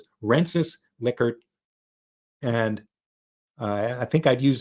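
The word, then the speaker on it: Likert: The In any case, it's Lickard, not Liykert, even though it looks like it should be called Liykert.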